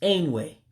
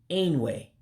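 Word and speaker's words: Enwe: It's Ain-Yee. Ain-Yee, monkey. Ain-Yee, monkey. Chimpanzee is pronounced as Adaka.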